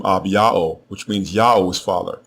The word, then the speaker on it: Abijah: There is also no such thing as the name Abijah or Abijah as it is spelled in the King James and other English translations of the Bible.